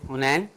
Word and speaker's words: Hunain: हुनैन के नाम से हुनैन के नाम क्या से, स्पेलिंग है आपके? HUNAIN हुनैन और ।